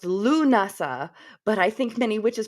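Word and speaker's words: Lughnasadh: Uh, I later read it's pronounced Lunasa, but I think many witches prefer to say Lamas because it's for because of its forgiving lack of Celtic consonants.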